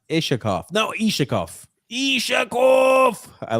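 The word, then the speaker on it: Iskhakov: Shay says, it's not pronounced with shh. It's pronounced Ishakov.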